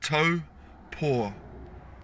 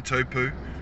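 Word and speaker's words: Taupō: right here in taupo we pronounce it tow poor you have a toe and a paw uh it's it's uh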